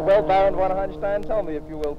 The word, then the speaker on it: von Hanstein: Hey, Mr. von Hanstein. Is that correct pronunciation? Yes, exactly.